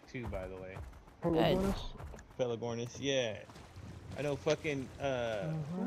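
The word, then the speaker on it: Pelagornis: you said it right too by the way feligornis yeah i know uh like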